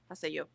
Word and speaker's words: Haseo: I was putting the accent on the say. So Haseo. So the accent's on the yo. Haseo.